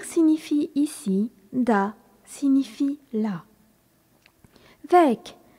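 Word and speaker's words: weg: ici da signifie là ve W E G est un adjectif qui signifie loin remarquons que le G final se prononce ici comme un K quand on dit M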